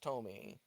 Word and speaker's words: Thome: Jim Thome is at the plate now. Actually, I think it's pronounced Tomey. I don't really know for sure. Tomey, I believe.